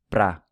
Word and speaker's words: para: One thing to note here is that the word para is usually pronounced pra in everyday speech.